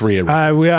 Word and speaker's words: Rhea: it right Ria Ripley it's Ria let go with Ria diarrhea R Ripley that's how I'm